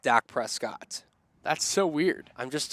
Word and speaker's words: Prescott: are a little weird they do called Presque instead of Prescott what you know Prescott Arizona they called Prescott Prescott I kid you not biscuit yeah like not like Dak Prescott that's so weird I'm